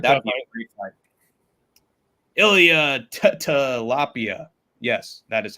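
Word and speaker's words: Ilia Topuria: Ilya Tilapia. Yes, that is how you pronounce it.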